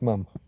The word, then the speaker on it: ma'am: It was never meant to rhyme with farm. It was meant to rhyme with ham. Yes, ma'am.